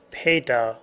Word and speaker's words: PATA: The three current methods used by internal hard drives are parallel ATA, PATA as is pronounced, serial ATA, SATA, and SCSI, SCSI.